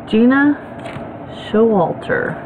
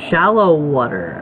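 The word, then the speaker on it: Gena Showalter: Okay, Gina Showalter.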